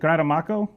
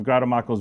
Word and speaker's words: Grattamacco: See, when I was younger, I would say Grattamacco, but it's actually Grattamacco, I believe. I never know where to put the right accent on the what syllable.